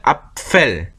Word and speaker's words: Apfel: 그러다 보니까 앞하고 붙었다가 또 다시 앞니가 아랫입술에 닿으면서 F까지 해야 돼. 그래서 앞펠입니다. 앞펠. 발음이 굉장히 복잡해지죠. 앞펠.